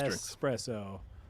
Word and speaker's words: espresso: in any of these espresso and once you know that like once you internalize in your head that it is an espresso all you will hear is other people pronouncing it with an X and being very mad